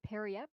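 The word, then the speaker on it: Periapt: I believe it said Periap. Periap? Yeah, Periap. A Periap. So I just didn't have the P.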